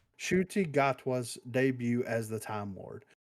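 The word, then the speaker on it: Ncuti Gatwa: a minute ago uh it's Sho hold on shuti gatwa okay all right that that's how you pronounce silent shuti yeah right shuy gatwa debut as the time Ward some of those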